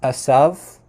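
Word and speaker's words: עשו: name Isa or in in modern Hebrew it's pronounced assav um so it's a little bit different but that's probably not how it was pronounced in biblical times the the V at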